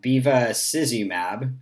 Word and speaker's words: bevacizumab: So one of the most recently approved ones is bevacizumab, is how I pronounce it, and it is a monoclonal antibody that targets vascular endothelial growth factor.